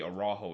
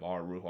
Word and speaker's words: Araujo: But then here it's kind of weird the fact that Cesar Araujo or Arujo is Uruguayan, and I would assuming the Spanish pronunciation would be Araujo instead of Arujo.